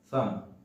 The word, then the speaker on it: thumb: It's not thumb, it's thumb, like thumb. Okay? B is silent in the word.